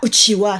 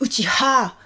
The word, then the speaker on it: Uchiha: Sauf que, attention, ce n'est pas Uchiwa, c'est Uchiha.